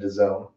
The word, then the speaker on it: DAZN: And then at the end, someone nailed it, said DAZN. So, like, not a bad video to try to explain how to pronounce your terrible name.